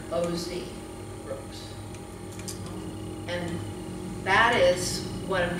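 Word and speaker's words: Ausbrooks: It's spelled A-U-S-B-R-O-O-K-S. And if you look for it under that name, you will miss a lot of records that are filed under O.Z. Brooks.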